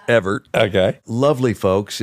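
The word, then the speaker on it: Evart: a little town called Evert okay e v a r t spelled wrong but it's pronounced Evert okay lovely folks it's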